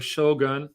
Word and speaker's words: shogun: The ruling power in Japan transferred from the ruling military shogun, or shogun. Shogun is proper pronunciation.